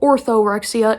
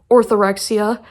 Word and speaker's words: orthorexia: people have heard of it's called orthorexia and although it Rhymes it's not the same as anorexia which I'm going to